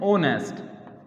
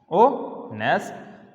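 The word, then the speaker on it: honest: ये इसकी प्रोनाउंसिएशन क्या है, ये किस तरीके से बोला जाता है। तो इसे हम बोलते हैं ओनेस्ट, ओनेस्ट। तो यहाँ तो ये ओ की शुरू में ओ की आवाज़ आ रही है।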